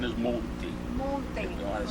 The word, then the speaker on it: Monti: The correct pronunciation is Monti.